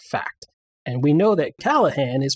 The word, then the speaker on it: Callahan: And we know that Callahan is pronounced Callahan.